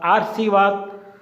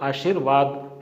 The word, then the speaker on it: आशीर्वाद: उसी प्रकार आशीर्वाद, इसमें जो र है ऊपर जो रैफ वाला वो श पे है, ये अशुद्ध है, जबकि र है वो वह पे आएगा और इसका उच्चारण ये जिस शब्द के ऊपर लगता है उससे पहले होता है। तो आशीर्वाद शुद्ध रूप होगा।